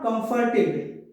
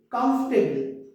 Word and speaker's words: comfortable: It's not comfortable, comfortable.